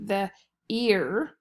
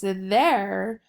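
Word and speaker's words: their: the first one so it should be the ear and it's not the ear so it's there so we're gonna heart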